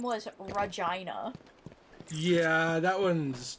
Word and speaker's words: Regina: Anything that rhymes with vagina though is probably going to not be a great Okay, I'm right here. You'd think it would be Regina, but she pronounced it that way.